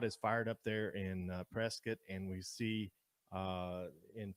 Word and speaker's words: Prescott: mean you look at it it looks like prescott boy don't say that when you're around here local pronunciation and the correct pronunciation is prescott so we're gonna be a lot of these